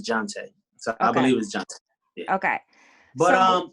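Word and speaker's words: Johntá: right some people say jonte some people say janta uh i've i've heard him uh produced and introduced himself as jonte so i believe but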